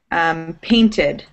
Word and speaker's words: painted: I'm going to give you guys, like, for example, painted. Painted. Manage. It ends in a T, so you pronounce it ED, id, painted.